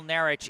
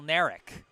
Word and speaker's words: Nerk: It's not Michael Naric, it's Michael Nerk.